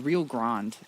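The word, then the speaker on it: Rio Grande: The Rio Grand. Yeah, that's how you pronounce that. It's uh it's the American way.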